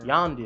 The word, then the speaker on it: Yondu: I think she's gonna be the new Yandu. Is it Yandu? How do you say his name? Yondu.